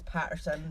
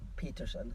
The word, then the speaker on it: Paterson: Yeah, I actually read it as Patterson. I was just going to say, it sounds like Patterson. I did watch Patterson. a documentary and they pronounced it as Peterson.